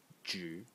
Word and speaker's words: 止: one is this element over here which is pronounced J in the third Zone and it means to